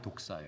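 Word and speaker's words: δόξα: 로 독사 라고 합니다 그래서 분명히 이걸 독사 뱀 그렇게 이해하시는 분들이 많을 거에요 아니에요 헬라어 발음이 독사 요 독사는 힙 으려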